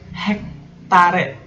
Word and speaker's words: hektare: Kata baku yang ke-9 contohnya adalah hektare. Hektare, dibacanya hektar, tapi hektare.